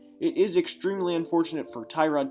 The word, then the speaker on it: Tyrod: is extremely unfortunate for tyrod taylor or torad as it was confirmed how it's pronounced this week on twitter